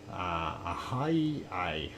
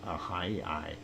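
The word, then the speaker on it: Ahyi: Ahai is how it is pronounced, Ahai.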